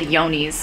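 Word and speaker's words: Johne's: testing results from is called yoni's or it's spelled like john's yones is a disease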